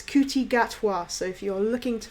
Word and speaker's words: Ncuti Gatwa: we are drawing i i had to find out how to pronounce his name it's cootie gatwa so if you don't know how to pronounce it you're reading it going is the end silent is the q is this c silent i don't say it's kuti gatwa so if you're looking